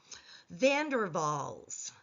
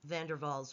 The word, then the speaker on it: van der Waals: van der Waals was of German descent, and therefore the W gets pronounced as a V.